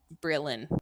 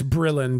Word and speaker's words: Brillon: do you say that I heard breelan it's Brillon Bri llo n and